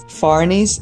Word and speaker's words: Fahrney's: It's Fahrney's, spelled like I put it in the screen so you know how it's spelled, and it was great.